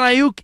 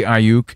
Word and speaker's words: Aiyuk: My first thought is you say Aiyuk, and you really lean into it. And there's a lot of people say Aiyuk. Yeah, they're saying it wrong.